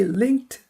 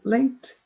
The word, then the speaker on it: linked: 이때 link 그 다음에 ed는 드 발음하면 안 돼요. link가 무성음이니까 ed도 드가 아니라 철자에 속지 마세요.